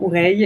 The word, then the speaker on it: Ouraï: C'est OK, ça se prononce effectivement Ouraï et le nom de famille.